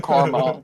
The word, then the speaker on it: caramel: Please don't project your fantasies onto me or Carmel, you disgusting freak.